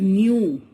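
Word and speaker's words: ν: कुछ दिख रहा है, इसको बहुत सारे बच्चे वी पढ़ते हैं, बट इट इज नॉट वी, इट is pronounced as न्यू.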